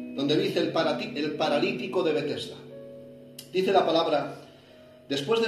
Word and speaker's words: Betesda: que en hebreo, en hebreo significa Betesda, se pronuncia Betesda, el cual tiene 5 pórticos.